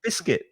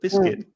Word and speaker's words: biscuit: together you have chocolate biscuit chocolate biscuit so yeah the c-u-i-t is pronounced e biscuit the u is silent biscuit um and it's